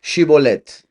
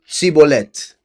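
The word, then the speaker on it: shibboleth: If he said no, then they would say to him, please say Shibolet. And he would say Sibolet, for he was unable to pronounce it right.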